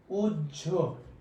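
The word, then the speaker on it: উহ্য: কোনো উচ্চারণ হবে না, যার কারণে হয়ের উচ্চারণ না হওয়ার কারণে এটার উচ্চারণ হবে হলো সহ্য। এটার উচ্চারণ হবে কি জানো? উজ্জ। সহ্য, উজ্জ, বাহ্য সবগুলোই দাহ্য, এইভাবে এই উচ্চারণগুলো হবে।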